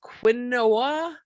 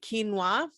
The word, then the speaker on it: quinoa: We've got teff and sorghum and buckwheat, quinoa, which you might see, it looks like it's pronounced quinoa, but you pronounce it quinoa, okay?